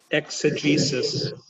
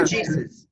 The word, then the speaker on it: exegesis: I'm not sure I'm pronouncing it correctly. Unmute yourself, Gabe. Unmute yourself. Exegesis. Yeah. Exegesis.